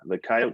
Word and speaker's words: coyote: And you can see a picture of it there next to the coyote statue. And yes, in South Dakota, we pronounce it coyote.